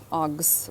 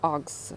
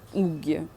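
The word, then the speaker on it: UGG: Агс, правильно казати. Акс. Я вже говорила, да, що Росія, Україна,Білорусь, угі ми кажемо, насправді читається акс, вимовляється акс, правильно.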